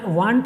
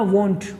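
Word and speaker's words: won't: Guys ध्यान रखना, वांट नहीं बोलना, वांट कोई और क्लास है कि चाहना, चाहत के लिए, लेकिन वॉन्ट आपको प्रोनाउंस करना वॉन्ट।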